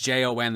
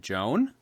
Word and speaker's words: Jon: I've had a lot of people that, like, when it's just Jon, they're just like, Joan?